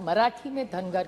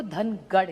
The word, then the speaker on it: धनगर: कि उनको ट्राइब में धनगर, महाराष्ट्र मराठी में धनगर कहते हैं, नॉर्थ में उसी को धनगढ़ कहते हैं। सो इट is only a pronunciation thing. धनगर हमारे यहाँ मराठी में कहते हैं और दिल्ली में धनगढ़